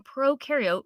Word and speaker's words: prokaryote: like to remember that pro in prokaryote rhymes with no and you in eukaryote